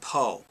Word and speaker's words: Pho: now uh Dr Kevin Poe it's spelled pH but it's pronounced PO is a practicing board